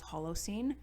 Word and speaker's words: Holocene: is the final song on the album called hollow scene i think i'm pronouncing that correctly and it's just a great